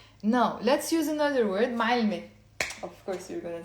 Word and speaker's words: معلمة: First of all, the word teacher, female teacher, is معلمة. Again, it has a silent T, which is the silent T مربوطة.